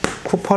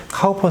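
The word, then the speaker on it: Cowper: 이제 이렇게 표현을 하는데 이 이걸 읽어 보면 카 오퍼 라고 읽을 수도 있기 때문에 카퍼 선 이라고 얘기하는 분도 있습니다 이 쿠퍼 30 요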